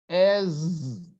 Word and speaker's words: as: As sounds like Z. Don't say as well as. As is your ass. You're sitting on your ass. It's your buttocks. Okay? So it's not as. As, we write ASS. Then we pronounce as.